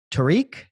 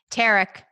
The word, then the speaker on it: Tarek: Tariq? Tarek. Tarek. Say it's spelled like Tariq.